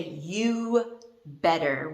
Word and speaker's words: you'd better: you'd better you'd better when we're talking we actually say you better we don't even pronounce the d the d represents the